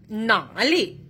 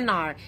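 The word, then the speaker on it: 哪儿: Nah, tulisannya pakai nar. Kita bacanya nar. Ini sebenarnya perbedaan dialek saja. Ini sering digunakan di Beijing Utara, nar. Kalian boleh menggunakan pakai nar, boleh dengan nali, nggak masalah.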